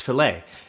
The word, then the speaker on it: fillet: Another popular custom framing offering is the fillet, which can also be pronounced fillet.